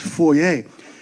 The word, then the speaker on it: foyer: Did you know that foyer is actually a French word? It's supposed to be pronounced foyer.